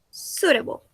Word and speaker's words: suitable: En inglés, cuando tenemos una palabra como fruits que tiene una U y una I, esa U y esa I se pronuncian como una, bueno, se pronuncia solamente la U.